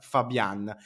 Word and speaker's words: Fabbian: Come dicevo, parliamo di Giovanni Fabian, anzi, come ha detto lui stesso, il suo cognome si pronuncia Fabian.